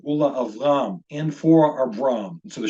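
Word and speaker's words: וּלְאַבְרָם: So in this case, this first word is pronounced Ula Avram, Ula Avram, and for Abram.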